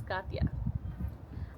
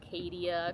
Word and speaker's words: Katya: Katya is a Russian name, though I'm Mexican, and so a lot of people could not pronounce it. And I hated being called Kadia, Katia, Katie.